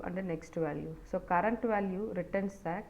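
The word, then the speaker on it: NEXTVAL: So we have current value and next value. So actually we pronounce that current value and the next value. So but the syntax will be CURVAL, cur val and next val.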